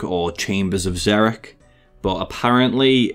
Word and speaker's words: Xeric: zerich H I've always known this character as zerich or chambers of zerich but apparently it's pronounced zerich so in the video I may say zerich